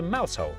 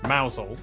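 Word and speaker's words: Mousehole: head over to ramfisham ransom then down to mouse hole mousel next mouse up to tower toaster and a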